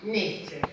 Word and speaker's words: Nietzsche: Nietzsche. Mira, yo para acordarme de De la todas las, pronunciación.